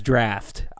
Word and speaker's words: draught: There's a trinket in there that drops, and it's spelled D-R-A-U-G-H-T. And it is causing an uprising right now. Well, that's draft. Exactly. It's spelled weird, but that's people if you drink calling, beer. Yeah. It, when you Google it, it says a British word for draft.